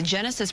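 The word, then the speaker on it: Genasys: LA County Fire mentioned this one too the Genesis protect app and that's spelled g n a s y s protect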